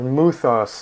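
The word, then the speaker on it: μῦθος: take on the on the mythos of muthos as it's properly pronounced in Greek it was very different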